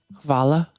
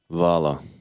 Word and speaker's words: hvala: In Serbian, it's hvala, Vala.